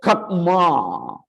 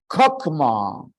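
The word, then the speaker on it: חכמה: For example, here the word kakma, or maybe better pronounced as kakma.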